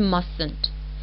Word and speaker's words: mustn't: small observation about pronouncing mustn't here we don't utter T we pronounce it as